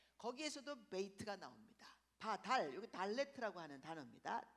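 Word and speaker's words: דלת: 메이트가 나옵니다 바달 요게 달레트 아고 하는 단어입니다 달렛 디귿자 발음이 나는 거예요 달레트 문이라고 하는 뜻을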